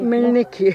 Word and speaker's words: Мельники: Мельники, наголос.